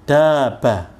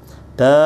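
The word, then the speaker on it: دابّة: Kalau saya bacanya ini daba, tirukan daba, daba. Kan banyak nggak ada tasdidnya, jadi banyak biasa aja daba. Tapi yang ini baknya itu ada tasdidnya, sehingga ditahan sebentar. Double.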